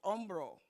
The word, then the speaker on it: hombre: have el hombre Umbro the H is silent all H is in Spanish silent on bro on bro okay one